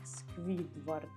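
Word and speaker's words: Squidward: І це читається як Сквідвард.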